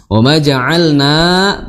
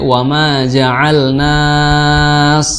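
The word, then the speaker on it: وما جعلنا: Ya Hamzah harus dibaca dengan jelas, dengan syiddah. Kenapa? Karena dia mempertemukan kedua makhraj dengan sedikit tegas. Seperti itu. Jadi jangan sampai wa ma ja'alnas ya.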